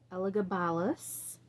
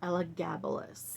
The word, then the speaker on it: Elagabalus: And so this first installment that I'm working on is Elagabalus or Elagabalus. There are two ways, from what I've been reading and researching, it's pronounced two different ways.